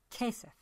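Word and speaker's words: כסף: Given this knowledge, you could begin to decode the word for money on the poster, which is pronounced Kesef.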